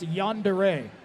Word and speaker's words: yandere: case are on deckere I'm being told it's pronounced yandere there's a half-filled monster can here that I